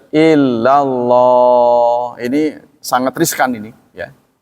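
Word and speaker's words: إلا الله: Nah ini kalau illallah itu harus disentak ya. La ta'budun. Ingatlah ketika kami mengambil janji kepada Bani Israel. Apa isi perjanjian itu? La ta'buduna illallah. Jadi kalau kita bacanya illallah nggak disentak, itu artinya kepada. Janganlah kalian beribadah kepada Allah. Ya, kan salah itu. Jangan ibadah kepada Allah, kan salah kan? Jadi harus illallah.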